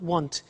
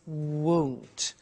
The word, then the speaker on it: won't: the money is won't be careful with the pronunciation it's not want it's won't so the example is